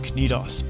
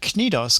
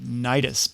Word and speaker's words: Knidos: into the aian sea you might also come across the pronunciation nidus but that's just plain silly in his work called